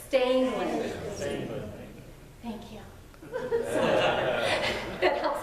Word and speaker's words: Stangland: mispronounce my last name, Stangland. There's no R, so say it with me just so I can hear it. Stangland.